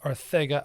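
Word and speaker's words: Arcega: you're wondering um and then we got jjr sega whiteside i know it's pronounced arthega i'm not going to say that because i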